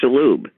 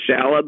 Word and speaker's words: Shalhoub: Whose name is clearly Shalhoub. But growing up, nobody in the community could be bothered to pronounce it correctly. And immigrants didn't like to speak up. So Shalhoub it was.